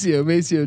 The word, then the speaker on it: Maceo: I mean, if you look at the numbers, it's It's Macchio. It's Maceo Teague. no, he was playing the pronunciation.